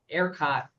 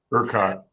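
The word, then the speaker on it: ERCOT: I mean the the new report I saw just yesterday is that that air erot sure how they pronounce it. aircot. Ukot, thank you.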